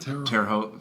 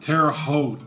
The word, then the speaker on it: Terre Haute: Is that how we pronounce it? Terre Haute. Terre Haute.